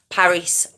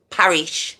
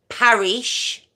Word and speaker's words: Parish: so we have line Paris Parish sorry Crooks okay so line Paris I'm saying it wrong again line Parish krooks born the 16th of